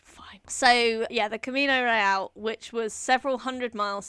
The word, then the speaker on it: Real: The thing is there are some some words that I'm gonna sound like a dick if I don't try and pronounce them with a slight Spanish accent. For example, they traveled to Mexico City along the Camino Royale. Right? If I was saying real, which is how I would pronounce that word in English, it sounds stupid.